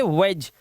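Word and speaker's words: wedge: D silent है इसलिए। इसे पढ़ेंगे एज, इसे पढ़ेंगे हैज, इसे पढ़ेंगे वेज।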